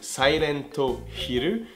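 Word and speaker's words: サイレントヒル: En japonais, la prononciation de Silent Hill et de Siren, c'est vraiment similaire, c'est Silento Hiru ou Siren, voyez ?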